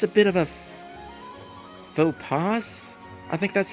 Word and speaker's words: faux pas: Faux pas is how you say that.